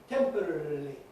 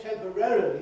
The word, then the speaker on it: temporarily: Most people they either say temporarily that's very common now very popular but it means you do say all the syllables that are there but you ease the matter by removing the stress later but most people many